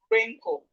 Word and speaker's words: wrinkle: We have wrinkle. Wrinkle. Wrinkle. So we can see simple rule here that whenever you see W and R at the beginning of word, the W is silent.